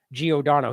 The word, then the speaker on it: Giordano: So here is, and he got the name wrong in this. It's James Giordano.